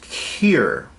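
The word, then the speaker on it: קיר: So it's pronounced kir.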